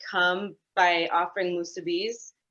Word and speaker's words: musubi: like come by offering musubis, like come try musubi, and they're like, what is that? And then when people say musubis, I'm like, my ears hurt, like say it right.